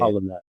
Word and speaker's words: Polyniak: It'll be posted up on the video as well, but it's Polyniak. Right. There's only Polyniak is one how you say it. Polyniak. Yeah. Polyniak and Polyniak if you're anyone but my immediate family.